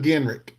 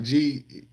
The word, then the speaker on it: Genrich: On Facebook, there's a guy named Brian Genrick. He's on Hopper Nation, and he's on my friends list too. It's spelled Genrich, like Genrich, and he actually makes all those gaskets.